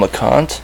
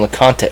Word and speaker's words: LeConte: Dom LeConte? Yeah. Oh, you know. Oh, yeah, you know Dom, right? Is it Dom Smith or Dom LeConte? LeConte. LeConte. I don't pronounce these E's.